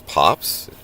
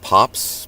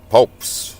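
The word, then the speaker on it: Poapst: It's pops, pronounced pops. Uh, uh, phonetically it's P A H PS. The T is silent. Uh, I've had people be like, well, why isn't it pronounced popes like toast with the OA?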